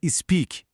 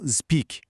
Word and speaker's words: speak: É sobre o som do S. Em verbos como sleep, slide e speak, o som inicial é um S assoprado, como em sapo. É sleep e não sleep. É speak e não speak.